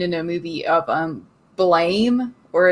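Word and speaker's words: Blame!: a movie of um blame or it's pronounced like blam like explanation point but spelled like blame i feel like i've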